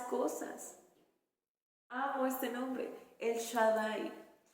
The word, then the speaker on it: Shaddai: Hay otro que se llama El Shaddai, se escribe S-H-A-D-D, las dos, A-I, Shaddai, y significa Dios Todopoderoso.